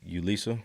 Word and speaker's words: Yulissa: DJ Ulissa.